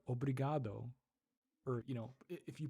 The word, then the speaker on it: obrigado: Obrigado. Interesting. Obrigado. Say obrigado. You actually have to pronounce the letter O. Okay. It's a lazy O at the end of obrigado.